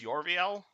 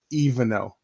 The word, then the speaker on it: Evanel: what you're talking about is that not pronounced your VL it's evanel evanel yeah so evanel aace is